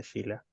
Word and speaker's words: Shelah: Sí, me pueden encontrar en mi Instagram, es Sheila, que se escribe Shelah, guión abajo P.